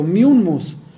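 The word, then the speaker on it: Mummius: Bueno, Corinto fue destruida por Miummus en el 146 a.C., y así lo pronuncié correcto, Miummus, pero fue reconstruida por Julio César en el 44 a.C.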